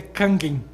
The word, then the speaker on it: Kangen: filosófico também na verdade a pronúncia de japonesa é canguim né a água Kang